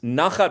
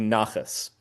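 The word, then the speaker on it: נחת: And who makes nachat ruach. This is literally nachas. It's the actual word that in the Ashkenazi pronunciation, nachat becomes nachas.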